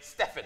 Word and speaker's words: Stephen: pay attention to that Stephen or who some pronounce here Stefan Stefan all right a man